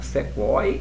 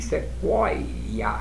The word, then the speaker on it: sequoia: Em um nível mais profundo, tritongo, esse, olha, é como se eu pronunciasse dois i, sequoia, sequoia.